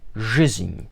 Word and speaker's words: жизнь: it out phonetically, the The first Russian letter is zh, as in the word Asian. So zh, then you have the Russian equivalent of an E, a Z, an N, and then a symbol that lets you know that that N is pronounced as an Enye. And you'd pronounce this as жизнь.